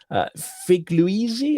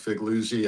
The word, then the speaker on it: Figliuzzi: We're joined by Frank Figliuzzi, if I got your pronunciation of your name correct. You get an A for effort, a B minus for pronunciation. It's three syllables. Figliuzzi.